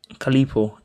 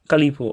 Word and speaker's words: Calipo: Calipo. Oh, I thought the PH Calipo, was like enough. Calipo. Okay, so he's not PH like f. Okay. Calipo.